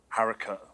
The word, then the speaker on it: haricot: tinned baked beans that is james chariots and harika yes yes jared and jericho correct how you pronounce the rhett i think you do either